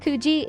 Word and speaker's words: Coogee: Located along Sydney's eastern coastline, Coogee Beach, pronounced Coogee, is a picturesque and laid-back seaside gem that blends natural beauty with a warm, community-oriented atmosphere.